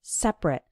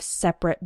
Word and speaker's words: separate: Now, when the word is used as an adjective, then we pronounce it like separate. For example, men and women have separate bathrooms. And when it's used as a verb, then we pronounce it separate.